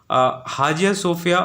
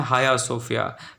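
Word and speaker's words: Hagia Sophia: 86 वर्षों के बाद हाजिया सोफिया हम लिखते जरूर हैं लेकिन इसको पढ़ते हैं हाया सोफिया। तो प्रोनाउंसिएशन के लिए आप प्लीज़ इसको रिकंसिडर कर सकते हैं। हाया सोफिया इसको पढ़ते हैं, लिखते हाजिया सोफिया हैं।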